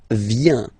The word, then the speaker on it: viens: First form, je viens. Final S not pronounced. Je viens. Remember, I-E-N, ien.